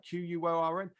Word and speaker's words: Quorn: However, on the radio this morning, Ginster's Pasties, Cornish pasties, Ginster's Pasties have made a vegan pasty using how do you pronounce corn, right? Quorn, and didn't call it a Cornish pasty.